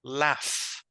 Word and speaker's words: laugh: La palabra es laugh. Laugh. Aunque se escriba Sí. laug, ¿verdad? Es como que si fuera L-A-F.